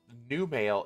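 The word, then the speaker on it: Numale: Well, new male is spelled N-U-M-A-L-E. It's new male.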